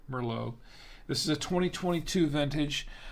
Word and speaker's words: Merlot: bardy a bardy and it's a chamberson Mero pronounced chamberson Mero this is a 2022